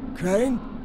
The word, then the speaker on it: Crane: no my name's crane crane crane rhymes with train and brain and sane and grain and rain and plane and the other